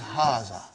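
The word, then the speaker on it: هٰذا: going to erase it see it is pronounced like but this alif is not written it is explained in the key also so it is haazah okay means this and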